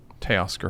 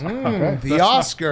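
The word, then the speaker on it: Teoscar: Tay Oscar Hernandez. The Oscar. That's not really how you say his name, Stephen. Tay Oscar Hernandez. That's not it. How is it? It's the Oscar Hernandez.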